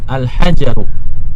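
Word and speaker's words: الحجر: Alhajaru batu itu ada alif lamnya sehingga tanpa tanwin.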